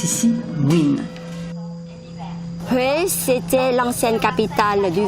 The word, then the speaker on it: Nguyen: À travers le monde, beaucoup de descendants de Vietnamiens portent le nom de la dernière dynastie féodale, les Nguyen, qui se prononcent ici Nguyen.